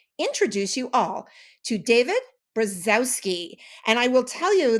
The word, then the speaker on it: Brzozowski: the name correctly okay so in Polish you would say briki oh my God that's